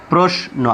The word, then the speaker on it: প্রশ্ন: 2 নম্বর যে নিয়ম, শব্দের শেষে বা মাঝে যদি দন্ত ন ফলা থাকে তাহলে ফলার উচ্চারণ বহাল থাকে, যেমন যত্ন, প্রশ্ন। আমি একটু বোঝার সুবিধার্থে ভেঙে লিখে দিয়েছি যত্ন, প্রশ্ন।